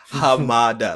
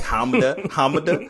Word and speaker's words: Hamada: come on y'all like hamada like this is a japanese name like this isn't even like a difficult one they're like honda and i'm like come on the japanese actors are mispronouncing this no it's the dub